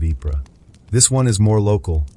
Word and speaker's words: Ypres: The most famous one is called the Wipers Times, Wipers being the soldiers' pronunciation of the Belgian city of Ypres.